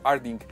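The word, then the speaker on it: Artdink: ¿Cómo se pronuncia? ¿Arding? Sí, es estudio Arding.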